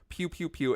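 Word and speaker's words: Pkew Pkew Pkew: Pew Pew Pew. It's spelled PKEW three times.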